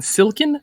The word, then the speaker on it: silken: dm question um i'm southern are you saying silken or silk and because i've pronounced both of those the same way silken